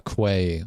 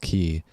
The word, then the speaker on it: quay: I pronounced it as a key or no, I said a quay wall, but it's pronounced key.